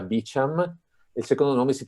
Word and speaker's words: Beauchamp: due autori sono inglesi ma sapete che ovviamente beauchamp evidentemente di origine francese lo sapete che gli americani perché non c'era tutto a modo loro quindi questo questo il primo nome si pronuncia beacham il secondo me si